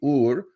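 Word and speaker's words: Uğur: Ur his name is uur uh ug but it's pronounced with a soft G Ur pay the cartel 650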